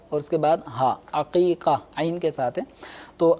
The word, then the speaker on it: عقیقہ: سب سے پہلے تو ان کا تلفظ درست ہونا چاہیے. یہ حقیقہ، جی یہ بھی لوگ اصل لفظ حقیقہ نہیں ہے، یہ عین پھر قوف پھر یا پھر قوف دو نقطے والا اور اس کے بعد